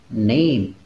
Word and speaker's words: name: Contohnya, di situ ada kata name yang pada umumnya kita sering membacanya adalah name. Nah, saat itu di dalam Middle English itu diucapkannya menjadi nam. Sama seperti bahasa Jerman.